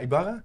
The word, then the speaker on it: Ybarra: of the listeners will know you Sylvia Sylvia Ibarra like pronounced pronounce that correctly yeah that's correct you